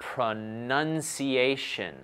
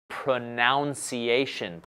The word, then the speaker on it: pronunciation: sequence for pronunciation pronunciation take a look at the spelling when we say pro-nunn just a none none pronunciation very good very good